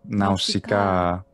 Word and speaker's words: Nausicaä: Nausicaä. That's a double alpha. Nausicaä, and then another alpha, which is long, which follows.